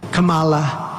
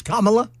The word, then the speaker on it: Kamala: still saying it wrong yeah Kamala it's Kamala Kamala yes do I say it right yeah I say it right it's Kamala yes then we then we